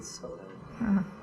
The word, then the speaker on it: Solel: in Saudi Arabia, it's Saudi OJ, which rhymes with Solel.